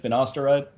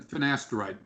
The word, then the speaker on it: finasteride: up that's good now you wanted to talk about finosteroid is that how you pronounce it finosteroid yeah it's uh and finasteride right right yeah um you